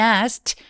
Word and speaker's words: asked: And asked 할 때 asked 트 소리 난다고 아까 말씀드렸죠?